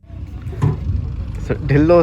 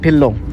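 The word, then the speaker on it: Dhillon: यहाँ पे जो प्रोनाउंसिएशन होता है ढ का ठ साउंड आता है, DHI है ना, DHI है, लेकिन आप जब बात करते हो तो ऐसा लगता है ठिल्लो बोलते हो, है ना, ठिल्लो।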